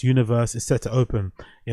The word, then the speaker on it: UNVRS: This month, the largest nightclub in the island's history, UNVRS, pronounced Universe, is set to open.